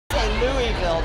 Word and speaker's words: Louisville: Louisville, but I don't know how you say it.